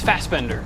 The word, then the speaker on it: Fassbender: Is that how you say I think it? it's Fassbender. Fassbender? Yeah.